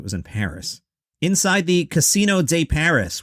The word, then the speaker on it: Casino de Paris: in paris inside the casino de paris which is how you pronounce it in french the 2000 seat venue